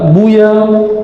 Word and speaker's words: Buya: guru tuanku Angku e Buya bukan buaya ya Saya takut kalau dipanggil Buya aslinya takut ada yang metnya jadi buaya nauzubillah nauzubillah namun di kampung kita orang nyebutnya Buya ya Ustaz itu baru